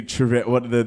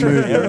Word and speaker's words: Trejo: Officially, Danny Trejo, the Mexican bloke who was Danny in- Trejo.